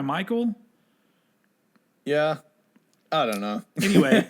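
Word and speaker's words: Michale: And on top of that, it's weird because his name is spelled Mikhail Graves, but he goes by Michael.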